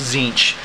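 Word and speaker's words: Tzeentch: standard uh it comes with uh Sun Ash zinch it's actually pronounced zinc uh an xgw guy stopped by and played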